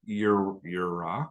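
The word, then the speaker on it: יִרְאָה: But Yirah, so you read right to left, Yirah, pronounced Yirah, and its first meaning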